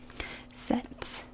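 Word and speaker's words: sèt: Set, like set the table, set.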